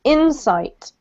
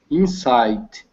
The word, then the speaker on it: insight: So the emphasis on the first syllable, Kako, okay?